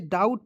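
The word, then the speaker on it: doubt: पे डी ओ यू बी टी तो इसे डाउट पढ़ेंगे लेकिन पढ़ेंगे तो क्यों इसे हम लोग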